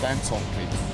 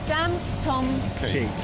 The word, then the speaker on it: Dantomkia: Now, how do you pronounce it? Dantomkia. Dantomkia.